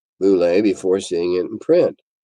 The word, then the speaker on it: Bullette: Tim, you want to pronounce it boule?